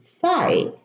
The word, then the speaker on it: thigh: as in high, sigh, thigh. Also here, the GH are preceded by an I, and it's pronounced I, high, sigh, thigh.